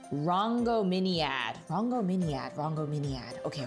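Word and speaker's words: Rhongomyniad: Oh, that's the pronunciation. Rango Miniad.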